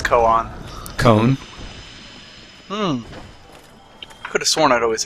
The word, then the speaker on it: koan: pronounce koan? Cone.